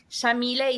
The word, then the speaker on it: Yamile: he named me so Shamil is an Arabic name pronounced with an Argentine accent we say the white like an sh and then is